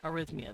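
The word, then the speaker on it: arrhythmia: I am so sorry arhythmia arhythmia that's how you pronounce that I hate when pills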